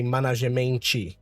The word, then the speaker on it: management: So we say management. But when we take a look at the IPA symbol, you see that the first syllable is man, M-A-E.